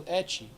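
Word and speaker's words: エッチ: So they shorten it to ecchi, which is how they pronounce H.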